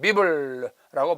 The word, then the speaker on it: Bible: La Bible, 바이블인데 프랑스 말이 되면 비블라고 발음이 됩니다.